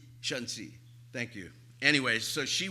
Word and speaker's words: Shanxi: Shangxi, like Shannxi. Is that right? Shanxi.